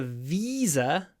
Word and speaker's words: visa: one you need a visa to visit Vietnam a visa to visit Visa visit here we can compare the v sound in Visa with a smile and the V sound in visit Visa visit Visa visit